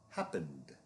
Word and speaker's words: happened: Happened, happened. This ends in an N, which is the dominant sound. So this is the dog sound.